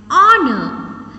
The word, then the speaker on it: honor: and r and honor when we are pronouncing these words in these words h is silent so because of that